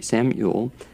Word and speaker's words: Yule: And am I pronouncing it correctly? Yes. Okay, Sam Yule.